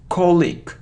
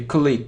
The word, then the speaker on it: colleague: colleague its colleague colleague so the stress is on the first syllable and we have the sound e so alone e so colleague colleague it's incorrect so colleague colleague only this so I don't know why but we often hear click click no colleague colleague